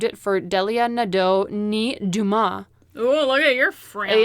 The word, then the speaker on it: Dumas: friends yeah that's why i'm assuming it's duma because they were french traders it's offensive um and there's other famous people with that same last name who pronounce it that way so they named it